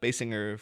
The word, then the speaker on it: Basinger: to say her name apparently she herself has specified that it's a hard it's a b and a hard G on the G but it is sing